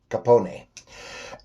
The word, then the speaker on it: Capone: Oh, I guess the correct pronunciation was Capone.